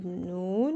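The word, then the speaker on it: نون: c'est l'alphabet le Noun on dit noun en arabe noun et il est représenté par le son n mais sinon ça se prononce n on va arriver à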